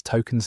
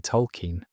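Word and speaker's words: Tolkien: Stan discovers the truth when he finally sees Token's name spelled out. He's been saying it wrong all along. He thought it was Token, but it's actually Tolken.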